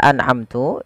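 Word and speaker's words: أَنْعَمْتُ: Keseraan yang sering terjadi biasanya memantulkan suara nun. A ane an ya anaamtu anaamtu harusnya tidak boleh dipan dipantulkan dia anamtu harus jelas harus jelas anamtu anamtu kemudian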